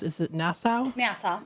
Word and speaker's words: Nassau: And then, how do you pronounce it? Is it Nassau? Nassau. Nassau.